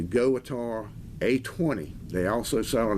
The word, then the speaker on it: GOWUTAR: and his Go guitar I guess that's how you pronounce it spelled g-o-w-u-t-a-r all capitals it's a goatar a20 they also sell